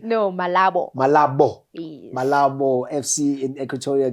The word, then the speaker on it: Malabo: No, Malabo.